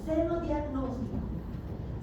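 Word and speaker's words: xenodiagnóstico: Y algo que no está aquí, que lo tienen en su texto, pero lo voy a explicar, es el senodiagnóstico. Senodiagnóstico se escribe con X al principio.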